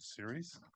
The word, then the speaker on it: Ceres: a sustainability nonprofit called Series. I think I pronounced that correct. You got it. Both my name and series. You got right.